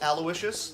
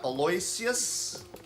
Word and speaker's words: Aloysius: lardner and aloysius minch it is pronounced aloysius not eloyus thanks for the good